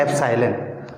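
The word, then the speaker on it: epsilon: तो Greek word है ना, तो इसका प्रोनाउंसिएशन है एप्साइलन।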